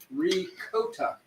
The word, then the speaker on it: ricotta: Oh, someone said the actual pronunciation in Italian is ricotta.